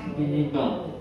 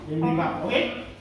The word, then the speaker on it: bibimbap: OK，这 bibimbap 是韩国的炸饭。OK，怎么读？bibimbap。 OK，很好，bibimbap。OK， so any question for bibimbap？